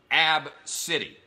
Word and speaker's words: ABCDE: real AB B CDE e and it is pronounced AB city which is by the way the greatest name